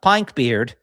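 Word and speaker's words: Pynk Beard: Uh Pink Beard, if you're pronouncing it uh verbatim. Uh look up Pink Beard.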